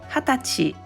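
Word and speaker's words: 二十歳: but when expressing age 20 years old equals Hatachi is the correct pronunciation what it's completely different yes in Japan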